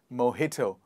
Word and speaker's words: mojito: mohito one more time mojito but the t here is the t sound the next one in